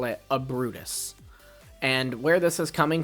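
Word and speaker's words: Ubrootus: from is first off we'd spell it with a u not an a. So u b r o o t u s. And the U there kind of makes it sound similar to uproot because this Pokemon has uprooted, right?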